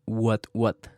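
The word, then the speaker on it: What Watt: Después de escuchar este episodio de 13%, busquen el podcast What What. Se escribe W-H-A-T, W-A-T-T. Es como que vatio, pero en inglés.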